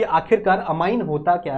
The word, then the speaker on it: amine: इसे बहुत लोग अमीन भी बोलते हैं, कुछ लोग अमीन प्रोनाउंस करते, कुछ लोग अमाइन प्रोनाउंस करते, मेरे को अमाइन सही लगता है तो मैं वही प्रोनाउंस कर देता हूं, ठीक है, आपके